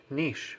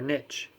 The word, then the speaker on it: niche: the first section is niche or niche when you write it when i write the pronunciations it can be niche or it can be niche you can say it either way read with me don't